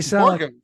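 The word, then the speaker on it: Burgum: Borgham, it just sounds like Borgham. Sorry, Borgham rhymes with sorghum.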